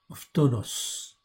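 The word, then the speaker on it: φθόνος: Donc ici, le mot, c'est le mot en fin de compte, phtonos. Ok, je vous le montre en fait ici, vous l'avez là. C'est pas tomos, c'est tonos, phtonos. Ok, voilà comment ça se prononce.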